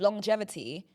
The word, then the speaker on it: longevity: now you're lost longevity someone was saying that like with longevity like there's two G's in it but longevity that's if you're saying it wrong if you're saying longevity